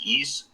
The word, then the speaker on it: Ys: now is uh the East series which is you know it's spelled out as Ys but it's pronounced East another neon Falcom game